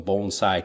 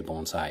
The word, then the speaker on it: bonsai: what you're talking about I also like having learned the correct pronunciation since I've come to Japan bonsai instead of like bonsai bonsai which is actually a different thing in Japan when people